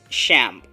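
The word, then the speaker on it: XAMPP: Photoshop and last but not the least is shamp that is spelled as X mppp and this is a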